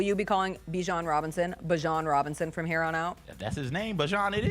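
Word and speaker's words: Bijan: How you pronounce my name is Bjon for everybody that's that's out there. Um, I know a lot of people say Bjon, but it's Bjon. Yeah.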